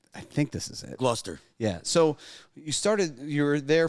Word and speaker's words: Gloucester: Gloucester Street. Yeah, that's not how it's spelt at all. Massachusetts is weird like that.